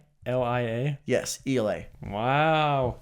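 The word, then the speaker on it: Ialai: Again, because it's so difficult to pronounce. Ialia. Ialia.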